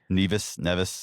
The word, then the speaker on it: Nevis: Nevis, yeah.